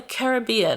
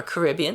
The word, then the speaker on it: Caribbean: different country in the Caribbean or Caribbean depending on how you like to pronounce it I noticed we were